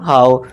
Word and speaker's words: how: एच ओ डब्ल्यू होना चाहिए था हो। लेकिन पढ़ते क्या? हाउ।